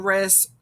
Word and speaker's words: wrist: try to remember that the w is silent it makes the er sound okay here are some examples we have words like wrench wrecked wrestle wrist run wreath i mean